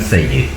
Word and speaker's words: Syed: Syed dibacanya Sayyid.